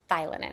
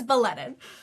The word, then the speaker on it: Bielenin: Thielenin. Am I saying it right? It's okay. It's Belenin.